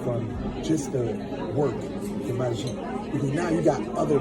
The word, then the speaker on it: magie: Is magie the way that you pronounce magic? Yes, magie. That's how you say it in French.